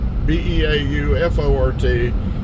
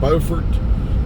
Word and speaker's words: Beaufort: And so Beaufort County here, of course, it's B-E-A-U-F-O-R-T. We call it Beaufort. In South Carolina, spelled the same way, they call it Beaufort. And so I don't know which one is correct.